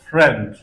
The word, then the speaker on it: friend: of rare sounds with ie ie ie is pronounced e in the word friend and it is pronounced